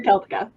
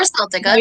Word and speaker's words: Celtica: Once upon a time, I was in a band called Pandora Celtica. We heard, or Celtica, depending on who's pronouncing it.